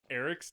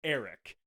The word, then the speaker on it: Airk: Eric's name is spelled AIRK. They literally say it Eric.